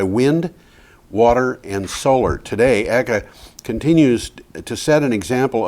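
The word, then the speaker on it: Eigg: of the island of in English egg and Scottish eeka eeka you got it ah I was going to say that but you know I you Tom was ahead of me so it's spelled EIG G G and EIG g g is a two- syllable word in Scottish those Scots amazing people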